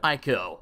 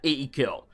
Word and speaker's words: Ico: They're also the people that made Ico, or Eco, I think people pronounce it Eco.